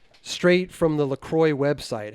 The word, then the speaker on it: LaCroix: looked oh so nice - straight from the Lacroix website how is Lacroix pronounced La Croix it rhymes with and joy